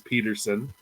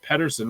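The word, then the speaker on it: Pettersson: He even said his last name's Peterson, but the Canadians pronounce it Pedersen because the Canadians are, except for Cracknell, they're all cuckoo.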